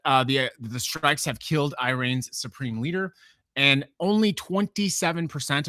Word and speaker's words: Iran: Uh I keep getting criticism about how I pronounce it. Iran is apparently the correct way to pronounce it. I'm from the Midwest, and so I'm very used to saying Iran.